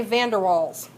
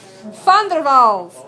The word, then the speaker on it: Van der Waals: say this name with me because Americans typically mispronounce it, Van der Waals. Van der Waals. And Americans want to say Van der Waals. No. Van der Waals.